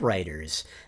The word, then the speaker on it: Ryter: I mentioned in that episode on GPT-3 and its impact on novelists that I believe the technology will help writers, not take our careers away.